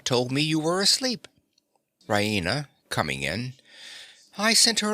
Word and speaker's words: Raina: of good news rahina she pronounces it Raina with the stress on the E Reina she goes to the